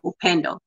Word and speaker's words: Upendo: I saying it right the best way to say it is you you if like you Endo opend I say it opend opend it's a SW word or you can say